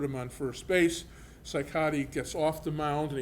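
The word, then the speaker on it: Cicotte: and there's always a debate on how you pronounce his name some people say see khat but I found a newspaper clip from that era and it was CY Cattle Co TV so psychotic is the correct pronunciation of his last name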